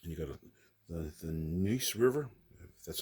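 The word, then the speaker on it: Neuse: Battle of Newburn and you got the the Nice River. That's how it's pronounced.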